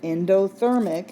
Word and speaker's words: endothermic: syllable of this word endothermic it's a four syllable word that first syllable is in and even though it's spelled differently it so it sounds like the word in so we want to